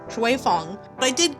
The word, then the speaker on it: Xue Feng: But it's actually pronounced "Schway Foung." So that is her name! Xue Feng.